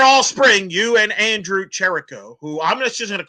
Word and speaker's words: Trylko: All right, Trace, you were there all spring, you and Andrew Trylko, who I'm just going to call him Andrew Trylko because I like it. It rhymes with Mike.